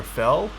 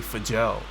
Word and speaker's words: Fjell: more like 24 millimeters is it pronounced for gel or fell it's technically supposed to be for gel but someone donated five